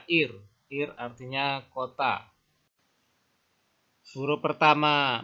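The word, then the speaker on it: עיר: Huruf pertama ayin. Ayin itu silent letter juga. Ini pembacanya bergantung pada vokalnya. Nah, vokalnya I. Kemudian ada huruf res. Res itu R ya. Jadi dibaca ir.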